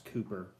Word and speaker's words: Cowper: does not work for his last name's pronounce Cooper so William Cooper and he